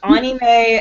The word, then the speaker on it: anime: second season of the anime never happened in the manga at all may when it's anime it's Anie May uh that's a that's the uh correct pronunciation I don't care I